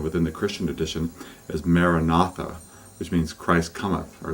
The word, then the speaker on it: Maranatha: the Christian tradition is Maranatha which means Christ cometh or Lord cometh and you would just breathe in again the four syllables you want to break it up into a rhythm so breathe in breathe